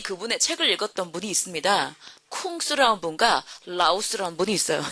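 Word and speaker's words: 孔子: 쿵스라는 분과 라오스라는 분이 있어요. 자, 그럼 제가 쿵스라고 하니까 누구야? 생각 드시죠? 이분 되게 유명한 분이거든요. 공자. 공자의 중국 발음이 꽁스, 라오스, 노자의 중국 발음입니다.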